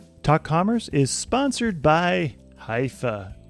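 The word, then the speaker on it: Hyvä: Commerce is sponsored by hia or as the Europeans say hoofa or the right way to say it hoofa is rapidly becoming the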